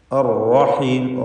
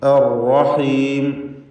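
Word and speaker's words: الرحيم: അർ റഹീം, റാഹിനെ തടിപ്പിക്കണം. അവിടെ ഷദ്ദുള്ള റാ ആയതുകൊണ്ട് വിറയൽ വരാതെ അർ എന്ന് വിറപ്പിക്കാതെ ശ്രദ്ധിക്കണം. അർ റഹീം, ലഹുവൽ അസീസുർ റഹീം.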